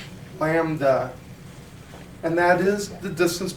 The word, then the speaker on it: lambda: lambda this brief letter we pronounce that lamb like little cute little baby lamb lambda and that is the